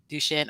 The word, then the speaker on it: Duschen: name wrong but Rayleigh duchenne am I saying it right duchin okay beautiful Rayleigh duchin received the